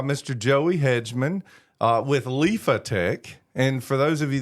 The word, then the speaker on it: Liphatech: I've I've pronounced it lipotech uh but there's a ph that should be pronounced lifetch and you said even